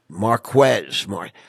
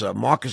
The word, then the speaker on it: Marques: But, when you say Marcus, you got to spell it out for everybody. So it's Marquess. That's correct. Marquez. Nelson kept saying it's Marques. I'm like, I think she spelled it wrong, Stephanie. It's Marquez. I mean, but that's the proper spelling, correct? Yes, sir. Marques. You got to spell it. Don't ever say Marques because people are going to say, who the hell is Marc?